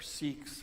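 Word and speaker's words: Sikh: I love the the sick you know or seeks how some people pronounce it but it was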